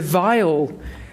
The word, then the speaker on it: viol: predecessor to the modern violin family is the vile group of instruments that's spelled v-i-o-l by the way it released mostly